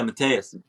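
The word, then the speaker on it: Mateusz: Benil Dariush was Matus Gamrot. Am I pronouncing his name right? Yeah, Mateus.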